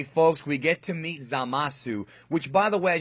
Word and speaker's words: Zamasu: The way they pronounce his name in Japanese is Zamasu. So, much like, for example, Torankusu, which is like the Japanese phonetic version of Trunks, I wouldn't be surprised